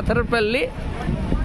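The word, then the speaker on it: Athirappilly: হ্যাঁ হ্যাঁ, যেখানে আদ্রাপল্লি বা এথারপল্লি, অ্যাকচুয়ালি উচ্চারণটা হবে এথারপল্লি, আর ডাকনাম আদ্রাপল্লি বা বাহুবলীর শুটিং হয়েছিল এই ঝর্ণা বললে এই জায়গাটা দেখানো যাবে।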